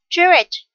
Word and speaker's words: Jewish: And Jewish, with the stress on the first.